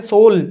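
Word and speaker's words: soul: की जो आत्मा है सोल सोल तो मैंने बोल दिया सोल युग साइलेंट है इंग्लिश इज द वेरी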